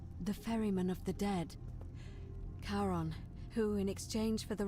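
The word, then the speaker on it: Charon: Only your pronunciation is a little off. The name you heard wasn't Karen. It was C H A R O N. I knew it. As in Karon, the fairerryyman of the dead.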